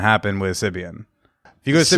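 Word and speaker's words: Sybian: Is that how you pronounce it? Sibian, yeah. Sibian.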